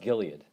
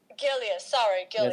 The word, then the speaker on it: Gilead: Like Gillette, the Gillette company that I mentioned to you, their stock price went up triple. It's pronounced Gilead. Gilead.